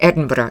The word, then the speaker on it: Edinburgh: Can I just congratulate you from the bottom of my wizzed old Scottish heart for being an American and pronouncing Edinburgh correctly.